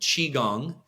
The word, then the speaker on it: Qigong: Yeah, Holden Chi Gong is my website. The hardest part about Qigong is how to spell it.